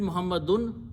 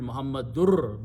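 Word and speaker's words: مُحَمَّدٌ: Also notice that when you read, you can read Muhammadun Rasulullah, but a Qari will say, I want to read Muhammadur, because he pronounces this two pesh, sound of noon as the sound of Ra.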